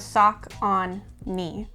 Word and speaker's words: Saucony: how to say this saucony i don't know if it's soccer nearest taconi it's talking like you're supposed to think of sock on me gotcha so those are